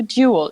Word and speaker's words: duel: So you need to pronounce the U, duel.